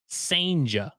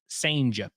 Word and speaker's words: Sanja: Gerangelo Sanja, courtesy of the Mississippi State Media Guide. Gerangelo Sanja. It's spelled like Ciginte, but it's Sanja.